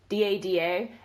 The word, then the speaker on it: DADA: Defense Against the Dark Arts, which, by the way, abbreviated is DADA, and come on, if people don't pronounce that as Dada or Dada, like, as in male fatherly figure, what are you doing with your life?